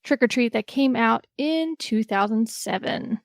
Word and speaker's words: Trick 'r Treat: 80s movie Matthew yeah this is Trick r Treat but still pronounced trick or treat that came out in